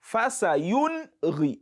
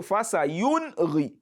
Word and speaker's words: فَسَيُنْغِضُونَ: So fasayunri. So don't say fasayunri. When you say fasayunri, so you are trying to assimilate that nun sākinah, and that is wrong.